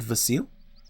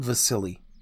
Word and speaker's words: Vasil: I used to know a guy named Vasil and uh somebody I don't remember who at this point would always pronounce his name wrong and would call him Vasili and I felt so